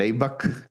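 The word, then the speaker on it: ABAC: O se escribe A, B A C. El abback.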